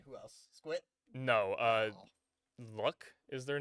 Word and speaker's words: Luc: Uh, Luck is their name. L U C, but it's pronounced Luck.